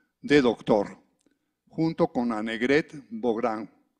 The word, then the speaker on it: Bográn: doctor, junto con Annegret Bográn. Digo, ¿me corriges? Bogrin, ok. Así se escribe, pero yo creí que se pronunciaba de otra forma.